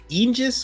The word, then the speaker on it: Aegis: It's Aegis, or you're right, Angus, Aegis. Literally, both are right. The English dub gets it wrong, and the Japanese dub apparently does it right, but no one can pronounce it. So either one, you're fine.